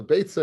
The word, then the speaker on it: Beitzah: So Beitzah and Eitza go ahead and rhyme, but Beya and Eitza don't rhyme. So you see that what Rabbeinu Chananel pronounced it as Beitzah, but we call it Beya for some reason.